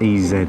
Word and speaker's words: Eze: And next stop is SA S S Ez uh spelled E Z E, but it's pronounced Ez.